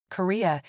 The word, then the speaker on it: Korea: Korea is 3 syllables, none of which contain a diphthong.